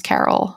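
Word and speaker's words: Karel: called the carol reader i never knew how to pronounce carol i'm going to just say carol it's k-a-r-e-l anyway highly recommend that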